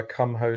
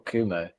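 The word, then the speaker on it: Kumho: we're also sponsored by Come Ho Tires. It's Come Ho or Come Ho. God's sake, or Kumo. Kumo. I think it's Kumo, but it's spelled Come Ho.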